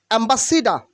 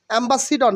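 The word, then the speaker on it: ambassador: অথবা সোল্লার soldier soldier অ্যাম্বাসিডা অ্যাম্বাসিডা মানে রাষ্ট্রদূত অ্যাম্বাসিডা অ্যাম্বাসিডর না অ্যাম্বাসেডর না অ্যাম্বাসিডা অ্যাম্বাসিডা রাষ্ট্রদূত অ্যাম্বাসিডা ওকে কনসেন্ট্রেটেড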